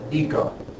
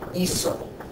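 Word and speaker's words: hizo: What happens is that this is actually pronounced eco. Rather, eco. And we don't want it to be eco. We want it to be iso.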